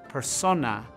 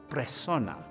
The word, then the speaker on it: persona: This complex discourse on what defines a person's identity from a man who mispronounces persona as presona.